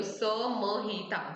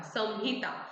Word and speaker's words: संहिता: और मो के बारे में, जैसे संहिता रहता है, संहिता, चरक संहिता, तो वो जो स के ऊपर डॉट है उसको हम लोग म प्रोनाउंस करेंगे, तो स म हिता, संहिता, संहिता नहीं बोलेंगे उसको, हम लोग संहिता बोलेंगे।